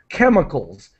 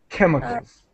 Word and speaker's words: chemicals: Chemicals. The C-H is pronounced as a K. Chemicals. Chemicals.